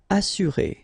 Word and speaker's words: assurer: Assurer, all right, you get two vowels here, but then double S, so it should be really strong. S, assurer.